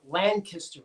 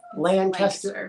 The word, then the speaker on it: Lancaster: If you're new here, we have a small hatchery in southern Lancaster County in Pennsylvania. Did I say it right? No. Lancaster.